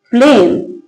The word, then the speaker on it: phlegm: क्या लिखा है, जब वर्ड के लास्ट में जीएम हो तो जी साइलेंट रहता है। क्या लिखा है, ये PHLEGM। क्या नोटिस करना है, जीएम, PHLEGM। क्या लिखा, जीएम। कैसे पढ़ेंगे इसको, फ्लेम।